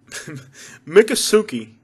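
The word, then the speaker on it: Miccosukee: a casino i think mick mc i'm sorry mika suki mikasuki mika soupy i know how to say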